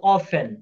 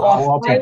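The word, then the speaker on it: often: যেমন ধরেন আমি বললাম হাউ হাউ অফেন ও এফ এন উচ্চারণ কি হবে? হাউ অফেন সবাই বলেন হাউ অফেন। হাউ অফেন হাউ অফেন আবার কেউ অফটেন বইলেন না অফটেন হবে না এটা হবে হাউ অফেন কি হবে হাউ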